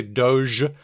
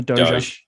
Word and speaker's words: Dogecoin: In my head, I've always thought that it would be Dogecoin with a hard G.